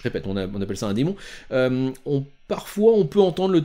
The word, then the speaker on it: daemon: littérature assez communément, mais le démon, qu'on prononce démon, le daemon, démon en anglais, c'est le terme officiel.